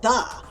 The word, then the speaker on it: ye: ye is actually pronounced da it isn't a y it's an old now unused letter called the thorn oh they use that